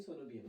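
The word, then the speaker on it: coenobium: इसका pronunciation different हो सकते हैं लेकिन सोनोबियम कहेंगे।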